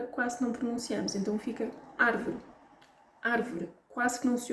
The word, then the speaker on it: árvore: deve ser pronunciada mais então palavras como árvore não é árvore a um acidente no primeiro apresento árvore a notícia